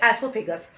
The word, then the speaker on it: oesophagus: थोड़ा सा पढ़ना पड़ेगा, एसोफेगस। ओ is silent, spelling देखो आप, OESOPHAGUS, दिखाई दे रहा सभी बच्चों को।